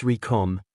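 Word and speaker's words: Recoome: Because the name's Recom, and it rhymes with doom, and you're gonna be hurting all, too?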